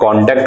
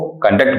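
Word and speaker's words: conduct: देखिए कॉन्डक्ट होता है, अगर ये नाउन बनता है तो इसका उच्चारण कॉन्डक्ट होता है, और अगर वर्ब का काम करता है तो हम लोग इसको कंडक्ट बोलते हैं।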